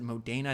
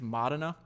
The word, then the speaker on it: Modena: I think it was, I pronounce it Modena. I think it's Modena. But he says, this is a quote from Enzo Ferrari.